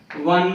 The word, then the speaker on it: one: one rupe note a one rupe note here the starting letter is o o letter but it gives the pronunciation of w a one rupee note